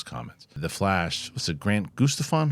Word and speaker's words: Grant Gustin: dive into those comments The Flash what's it Grant Guston how do you pronounce Grant Gustin close Grant Gustin yeah well that guy played The Flash and